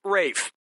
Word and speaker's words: Ralph: two yep ray Fiennes first name is spelled like Ralph but pronounced Rafe and his brother of